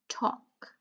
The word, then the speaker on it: talk: And for our last line, whole, light, foreign, talk. So I'll just give you a few more seconds to tell me which letter is silent in each of the words, okay?